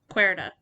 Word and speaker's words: Querida: Because I thought it started with a K first, but it actually starts with a Q, because kind of depending on how you say it, it does sound like when you're saying a Q, it's a K. Yeah. Etc. So it's a little confusing. Because in Spanish, the QUE is K.